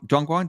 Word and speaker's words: Dongguan: Dongguan, did I pronounce that correct? Yeah, that's right. That's Dongguan.